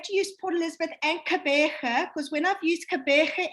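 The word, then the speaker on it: Gqeberha: How you pronounce it? Kabeja. You know, the thing is, you know, when we do training with the international market, at the moment, we have to use Port Elizabeth and Kabeja, because when I've used Kabeja in the past,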